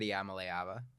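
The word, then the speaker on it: Iamaleava: I think you said Yamaleava.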